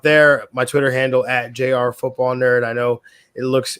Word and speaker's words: jrfootballnerd: my twitter handle at jrfootballnerd i know it looks it looks like it's pronounced junior but it's jr so i've been on